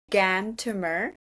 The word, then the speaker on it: Gantumur: So the my Mongolian name is Gantumer. Since it's a little long and difficult to pronounce, you can call me.